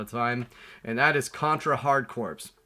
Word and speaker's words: Contra Hard Corps: time, and that is Contra Hard Corps. And yes, I say corpse, not core.